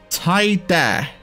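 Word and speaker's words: ティーダ: He's pronounced Taida in Japanese.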